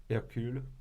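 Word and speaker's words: Hercule: 에르큘, 헤라큘. 이 이름에 헤라큘레스. 대해서 한번 발음해 주세요. 에르큘.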